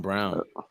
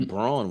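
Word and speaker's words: Braun: to nice nice Christian Brown so his name is brown that's how they pronounce it usually Brawn when it's built 17 minutes 15 points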